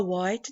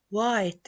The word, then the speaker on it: white: She's wearing a white dress. And here we have the H in white.